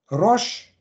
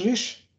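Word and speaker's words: ראש: Weil dieses Zeichen, diese 200, ausgesprochen, Rosh im klassischen Ibri, man kann das auch Resh, Rash, Rish aussprechen.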